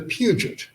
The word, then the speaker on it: Puget: came over to america they changed their pronunciation from peugeot to puget well there's a zillion